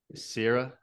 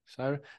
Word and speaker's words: Syrah: Rosado, which is the rosé, it's a rosé of Syria, I think that's how you pronounce it. Syria, Syria. That's a place. Syrah. No, it's a type of wine here. It's like a It's a very so it's dry, different.